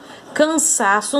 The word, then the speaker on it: cansaço: Quando a sílaba tônica é a penúltima, como que ela é classificada?